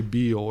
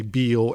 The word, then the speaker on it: Beall: And they would say Beall and literally go, no, that's how we say it. And I'm like, well, that's not how it's pronounced. Because Ninian Bell would say, as in ringing bell, when he would tell people.